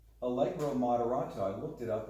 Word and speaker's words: Allegro: Allegro, is that Yeah.